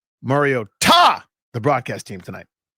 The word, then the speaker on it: Mariota: Mario Ta the broadcast team tonight. Right. But why did you say that? Because they're emphasizing the Ta which is the correct way to pronunciate.